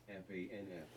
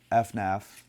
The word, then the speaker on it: FNAF: It doesn't say FNAF like some crazy people do. VENUS says. FANF. It's FNAF.